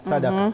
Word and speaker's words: sadaqah: And it's called exactly that, sadaqah. Yeah, it's just the pronunciation.